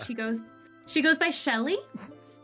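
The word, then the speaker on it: Cheli: goes she goes by Shelly she goes by Shelly but it's spelled c h e l i Shelly so it's her actual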